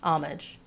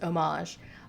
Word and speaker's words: homage: live it down uh the English lone word pronunciation is homage the French original pronunciation is homage I somehow mangled the